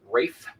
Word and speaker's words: Ralph: Ray fines right now Rafe fines you know the guy whose name is spelled Ralph finds his name is actually Rafe it's spelled Ralph okay